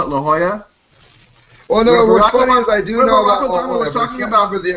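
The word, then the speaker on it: La Jolla: when you were talking about Leola which is pronounced La Hoya which is Spanish for the jewel so obviously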